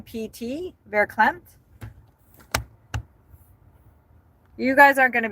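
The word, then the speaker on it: verklempt: It's It's spelled V E R K L E M Pt. Vercle Clemp.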